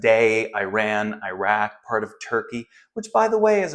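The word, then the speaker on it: Türkiye: is where present day Iran Iraq part of turkey which by the way as of a couple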